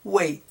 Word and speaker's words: weight: Instead, the word weigh, as soon as you add the letter T to it, is pronounced weight, and you don't pronounce the GH.